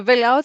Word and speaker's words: Velout: Yes, it's Velout. I know we have a little bit of the name problem, the pronunciation, but you got it right the second time.